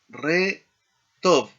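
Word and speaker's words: רחוב: Eh re job, significa calle, en el plural será rejobot, ¿no?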